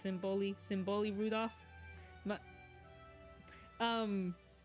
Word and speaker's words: Symboli: I see some people um pronounce her name Symboli. I thought it was Symbolai at first, but it's Simboli.